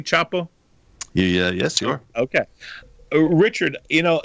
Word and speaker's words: Chapo: Am I pronouncing it correctly, Chapo?